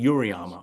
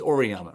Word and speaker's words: Auriemma: Why don't we just finally say what the coach I never say his name right from UConn. Gino Auriemma. Oriyama. I always Yeah. always want to say Uriyama. It's Oriyama, right?